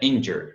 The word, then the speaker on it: injured: Na verdade é injured, né? A pronúncia é injured. A ênfase não é aqui não, é aqui no começo, né?